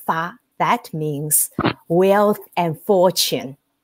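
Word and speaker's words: 发: That means the same pronunciation in some of our language. It's called fa.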